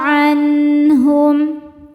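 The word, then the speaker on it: عنهم: Cara membacanya nun sukun ini dibaca izhar atau jelas. Jadi asalnya bunyi nun ini adalah N. Kalau ketemu H tetap N tidak ditahan. Anhum.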